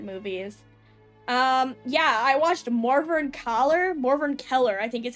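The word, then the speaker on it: Callar: Yeah, I watched Morvern Keller, I think is how it's pronounced. It's spelled C-A-L-L-A-R, but it's pronounced like Keller.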